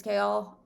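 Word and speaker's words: Chaol: love kale um also i always pronounce his name wrong i think it's kale i saw somewhere you say chaos and then you add an l which i guess that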